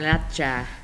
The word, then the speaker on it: Garnacha: You got to roll your R's in Spain. Garnacha.